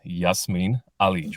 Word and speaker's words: Jasmin Alic: with that the rear the real way to pronounce my name is Yasmin Ali but I have a